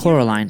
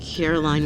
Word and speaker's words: Coraline: YB let me guess Coraline is visibly annoyed by YB Because he believes that she's a water witch he was also unable to pronounce her name properly Coraline Caroline Wood Coraline Caroline Jones their